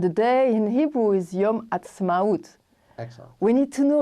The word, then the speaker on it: Yom Ha'atzmaut: And the day in Hebrew is Yom Ha'atzmaut. Excellent. We need to know a bit of the name. It's difficult to say it. I know how to say it now. It took a while. Atzmaut.